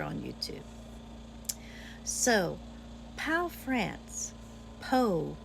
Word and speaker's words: Pau: Bell if we're on YouTube so power France po it's pronounced a French person told me it's spelled